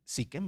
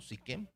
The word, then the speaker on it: Siquem: Este lugar se pronuncia siquem, ¿verdad? No, siquem porque es un nombre. Los nombres no cambian.